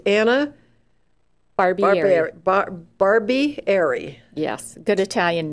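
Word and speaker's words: Barbieri: name out first it's Anna Barbie Barb bar Barbie AR yes good Italian name let's spell that it's b a r b i e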